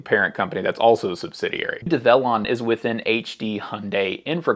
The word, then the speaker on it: Develon: why you pronounce it develon instead of devlon so develon you just say develop but you replace the p with an N develon folks inside develon